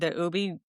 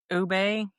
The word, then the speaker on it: ube: And Stephanie got the ubi cheesecake. You sure about that's how you pronounce it? Ube cheesecake.